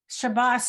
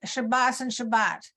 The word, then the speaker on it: Shabbat: the state of Israel, the pronunciation of this letter as an S fell out of favor or disappeared, and both are now pronounced as a T. And Shabbos and Shabbat.